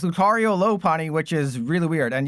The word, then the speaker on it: Lopunny: It's pronounced Lopunny cuz it's a lot bunny.